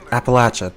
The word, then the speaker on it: Appalachia: Okay, Appalachia. That's how you pronounce it.